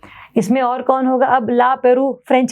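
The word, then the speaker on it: La Pérouse: देखो ला Peru is kind of French word, तो इसको इसलिए से प्रोनाउंस में कर रही हूँ। अदरवाइज आपको याद करना तो आप ला पेरोज के नाम से भी इसको याद कर सकते हैं, आपकी मर्जी है, कोई दिक्कत नहीं है।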